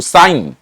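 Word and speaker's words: sine: এটা সিন না কিন্তু সাইন, সাইন। এটা এসআইএনই হয়, সংক্ষেপে আমরা এসআইএন লিখবো। সাইন কোসেক, সাইন কোসেক, দুইটা রাশি। ওকে, এভাবে শিখবে। হ্যাঁ, ছন্দের চলে শিখবে। সাইন কোসেক, বুঝা গেল?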